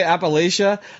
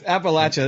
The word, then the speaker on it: Appalachia: So and you said it right. You said Appalachia. That's great. That's exactly how you want to say it. Like if you hear somebody say Appalachia, like you're like, that's wrong.